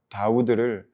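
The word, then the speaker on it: דוד: 다윗의 히브리어 발음 다우드를 숫자로 바꾸면 14가 됩니다.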